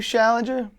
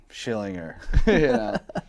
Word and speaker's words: Schillinger: I know him as Schillinger. Yeah, it's like anytime he pops in, I go, "This guy's trying to sell me insurance." Yeah, I love the clips of every time someone said his name wrong. Yeah, like he's like, "Yo, you Challenger?" Schillinger. Yeah.